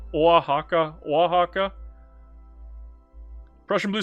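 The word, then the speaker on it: Oaxaca: So, Wajaka Wahaka.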